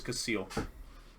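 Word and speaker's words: Kacil: c i l a phonetically it's like yeah technically it's casil casle which is a lot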